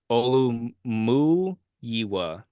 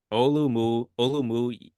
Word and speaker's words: Olumuyiwa: It's usually just Olu, but then they put the full name. It's Olumuyiwa. Olumuyiwa Fashanu.